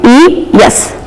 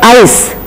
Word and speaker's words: eyes: look at this spelling there is e y e yes but we are saying it as eyes if you say it as ice there will be a confusion i c e also is ice and e y e s also is eyes so in order to avoid this confusion we have to say this particular word the plural of i as eyes so no student will